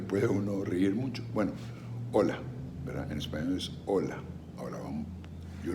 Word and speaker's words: hola: la h en español porque no tiene sonido no se pronuncia en español h por eso empieza la palabra con o así es que es hola en español es hola